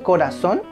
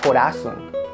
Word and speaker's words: corazón: Tile muy bien Ahora esta se dice corazón Sí porque no se dice corazon Ay mi corazón tampoco se dice Ay me duele el corazón Ay me duele el corazón no es corazón entonces lleva tilde si